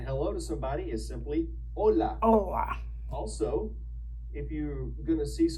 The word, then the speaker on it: hola: First of all, you know the one we learned a while ago when we were talking about pronunciation with the H. Saying hello to somebody is simply hola.